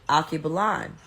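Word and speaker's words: Alkebulan: name so he said he or she said akibalan it's spelled a-l-k-e-b-u-l-a-n okay blonde and i was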